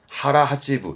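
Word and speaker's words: 腹八分: 앞에 거는 배복자입니다 복근의 복자죠 오나까 아닙니다 오가 있어야 오나가고 오가 없으면 하라 그래서 발음은 하라 하지브 하라 하찌부 이게 무슨 말일까요 하찌부라는게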